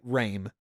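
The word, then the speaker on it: re'em: say Reigns yeah it's I'm just gonna say rain because it's easy for me to do um but if you were to transliterate it it would be r-e-e-m but anyways uh in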